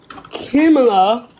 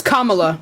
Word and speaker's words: Kamala: New York Post from Kima Harris it's Kamala pronounce it right Kima so now now